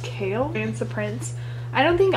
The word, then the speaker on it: Chaol: um dorian and then i think it's pronounced kale ransom prince i don't